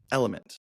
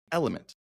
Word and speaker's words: LMNT: how to say it for the longest time element lmnt element electrolyte supplements and I almost said electrolyte supplements